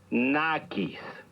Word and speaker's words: nakis: escuchaste con atención nakis recuerda que en el náhuatl las palabras se acentúan en la penúltima sílaba nakis muy bien ahora ya